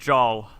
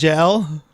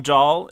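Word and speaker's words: Jaal: pronounce it Jol. Joel. Oh, yay! So I got my we were answer. right, yeah. Is he spelled out phonetically? Yeah, jaw and L. So Jol.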